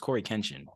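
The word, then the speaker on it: CoryxKenshin: Does he pronounce the X? I thought it was just Corey Kenshin.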